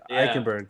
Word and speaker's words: Eichenberg: You'll have to help me on how to pronounce this. In Notre Dame, Liam Eichenberg? Eichenberg, yep.